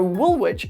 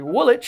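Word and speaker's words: Woolwich: So, wool witch is actually Woolitch.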